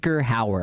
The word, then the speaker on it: Hauer: I'm guessing Rutger Hauer, I think, and I I'm not looking at it, but I'm guessing that's the name. Hauer, okay. That's how you pronounce it.